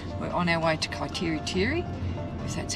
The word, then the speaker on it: Kaiteriteri: of a look-see we're on our way to kaiteriteri because that's how you pronounce it and we've decided to take the